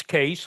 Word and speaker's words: Cees: in pronouncing my name so uh it's it's case like in case law so it's very easy